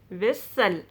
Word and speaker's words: whistle: t in this word normally silent t if a word ends in s t l e you don't pronounce that e t will be silent you pronounce this word is castle hustle bristle nestle whistle wrestle you don't ever say